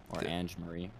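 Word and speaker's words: Ange-Marie Hancock: name and marie hancock is that how you say her name angie marie ange marie angie marie hancock okay yeah ange marie yeah um there's a quote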